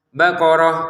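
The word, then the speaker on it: بقرة: Untuk baqarah di sini kita baca ha sebagaimana yang sebelumnya tadi. Mana ya tadi tuh yang baqarah. Karena ini baqaratan dibaca baqarah kalau kita berhenti. Baqaratun dibaca baqarah juga kalau kita berhenti menjadi huruf ha. Innaha baqarah ya menjadi huruf ha kalau berhenti.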